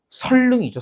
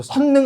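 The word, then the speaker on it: 선릉: 이거 어떻게 발음해야 돼요? 설릉이죠. 선능 아니죠. 분명히 이거잖아요. 니은, 리을 만났을 때 앞에 니은을 뭐로 발음한다고 나와 있어요? 리을로 발음한다고 나와 있으니까 선능이 아니라 어떻게? 설릉 이렇게 발음을 해야 되죠. 이 발음은 의외로 많이 틀립니다. 그죠? 자꾸 선능 그러는데 설릉이라고 하는 게 정확한 발음이고요.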